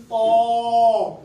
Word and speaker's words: طا: زبان کی نوک سامنے کے دانتوں کے پیچھے لگائیں گے تو اس حرف کی ادائیگی ہوگی طا.